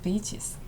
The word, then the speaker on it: beaches: 그래서 이거 발음을 할 때 짧게 발음하면 욕이 되거든요. 그래서 beaches.